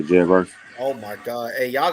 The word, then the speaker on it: Jared Verse: Man, I ain't gonna lie, they got Jared Versa. That's how you say his name? Yeah, Jared Verse.